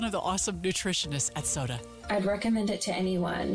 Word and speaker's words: SOTA: It's spelled SOTA, and it stands for State of the Art.